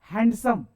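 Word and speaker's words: handsome: यार हम लिखते क्या, हैंडसम, पढ़ते क्या, हैंडसम, उसमें भी साइलेंट होता है ना साहब डी।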